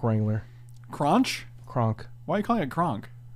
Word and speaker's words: Kronch: The H is silent.